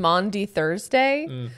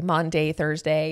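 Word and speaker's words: Maundy Thursday: i've noticed that one and mondi thursday i worked with i've worked with a few colleagues that say monday thursday oh yes and i've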